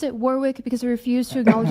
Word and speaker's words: Warwick: war uh it's pronounced Warick. I pronounce it Warwick because I refuse to acknowledge that the UK cannot remember to pronounce the extra W in the word.